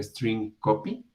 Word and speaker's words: strcpy: Entonces, esta función, que se llama strcpy, o si lo pronunciamos correctamente, esto sería string copy, copia de una cadena, me está devolviendo char, pero aquí tenemos el operador de asterisco.